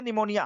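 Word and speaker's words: pneumonia: पी से पित ग्रह पी से निमोनिया हालाकि पी साइलेंट होता है निमोनिया में लेकिन पीस से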